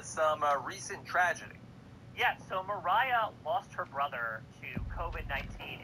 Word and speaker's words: Mariah: So her name is pronounced Mariah, like Carrie, Sharon.